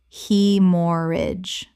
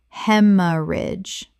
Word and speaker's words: hemorrhage: Hemorrage. Correct pronunciation. Hemorrage. The a e makes an e sound. Three syllables, and the g h is completely silent.